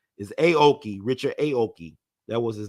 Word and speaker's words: Aoki: Is Aoki. See, these names are interesting to pronounce. Is Aoki, Richard Aoki.